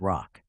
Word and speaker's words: ROC: Professionals pronounce it as rock.